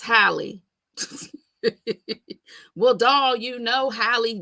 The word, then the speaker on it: Halle: So today's topic is all about, I've been calling her Haley. Y'all gonna say it's Halle.